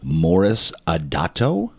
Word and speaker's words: Moris Adato: And today, my guy, Moris Adato. Did I pronounce that correctly?